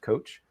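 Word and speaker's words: Kocs: a town in Hungary spelled differently but pronounced coach and they made the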